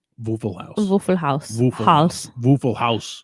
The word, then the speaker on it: Haus: Waffle House. Haas. Isn't it Haas? No, it's house. It's pronounced House. as in house.